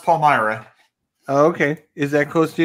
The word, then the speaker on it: Palmyra: Palyra. It's pronounced Palmyra.